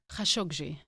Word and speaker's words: Khashoggi: How do you pronounce the last name? Khashoggi.